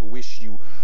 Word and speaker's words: WIXIW: w xxi double vie ça se prononce wish you groupe installé à los